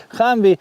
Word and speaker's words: Хамві: Згодом ця назва трансформувалася у більш комфортну для вимови Hamві.